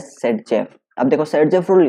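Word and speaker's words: Zaitsev: rule पढ़ा होगा तो वही हमारा जेट सेब बोलते हैं इसको सेड जब बोलते हैं ठीक है ल्स प्रोनाउंस एज सेड जफ अब देखो सेड जेफ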